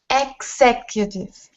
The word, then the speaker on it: executive: a K and a Z X sec utich executive perfect i King Schieffer the idea of three